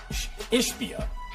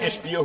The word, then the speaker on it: Ishbia: Jokic wound up making contact with Ishbia. Am I saying it right, guys? I can't Ishbia, you got it.